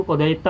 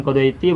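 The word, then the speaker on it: قضيت: Meskipun kita suka bacanya kodoit gitu, ya harus tahu itu kodoita bukan kodoiti, bukan kode itu.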